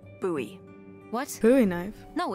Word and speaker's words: Bowie: out this huge Rusty Bowie knife it's actually pronounced buoy what booy knife no it's like the last name like David Bowie different last name buoy are you just messing with me no that's